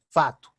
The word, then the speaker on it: fato: A palavra facto, hecho, no Brasil é fato, porque realmente os brasileiros não pronunciam o C, fato.